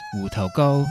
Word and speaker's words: 芋頭糕: Taro cake is pronounced wu tou go in Cantonese.